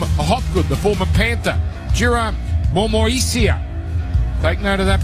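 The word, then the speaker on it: Momoisea: Jira Momoisia. Take note of that pronunciation. Momoisia, Jack Murchie, Woody Mugreg, Makahesi Makatoa.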